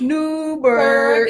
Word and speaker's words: Newburgh: Newburgh? Y'all said it wrong. It's Newburgh.